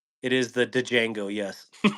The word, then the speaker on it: Django: That's a Django, right? It is the Django. Yes. I hear so many people pronounce it. Yeah, it's Django.